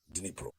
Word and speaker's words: Dnipro: It's not easy to pronounce, so I will always say Dnipro.